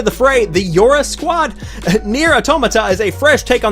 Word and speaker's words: NieR: Automata: Next up, we've got NieR Automata, I believe is how you pronounce that. However, whenever I first glanced at the name, I thought it said NieR a tomato.